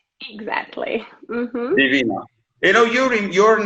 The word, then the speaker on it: Daivina: The stress is on the actually second syllable. Exactly. Mm-hmm. Divina.